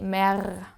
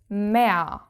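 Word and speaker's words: Meer: which you can see ends with an R but you don't pronounce it you don't say me you say me which actually really sounds like you have added an a me. So let's build the plural of this which is me and the R has to be pronounced again because it is the start of a syllable of the second syllable.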